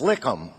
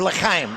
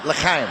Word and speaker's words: L'chaim: In Jewish, for my Jewish friends, "Lichem," or "L'chaim," "L'chaim." See how you can goof things up? You put the wrong inflection on the wrong syllable.